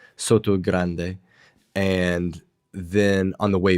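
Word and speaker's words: Sotogrande: that right this time Soto Grande yeah because we always mess up with the T there we pronounce it like we would in English Soto Grande and then on the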